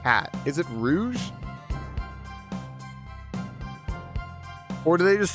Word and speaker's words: Rouge: These are mascot platform characters who are actually voice acting in the 2000s and it is Rouge the Color. Gotcha. Pronounced Rosie. Rouge like the color.